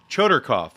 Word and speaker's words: Chodorkoff: author in quite a while it's dr choderkorf guy i can't even pronounce things choderkoff is that correct okay dr choderkoff is